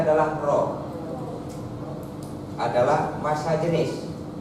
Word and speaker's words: rho: Bukan P itu rho. Bacanya adalah rho.